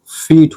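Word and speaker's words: feet: ठीक है, अगर किसी वर्ड में डबल ई और टी हो तो इसके उच्चारण में बड़े इकार की मात्रा और टा आ जाता है।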